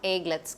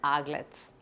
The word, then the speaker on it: aglets: one is aglets aglets the pronunciation is not egg let's carry the aglets okay so ah the